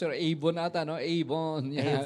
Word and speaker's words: Yvonne: Ayusin mo natin pag-pronounce, Sir. Avon ata, no? Avon. Yan. Yvonne.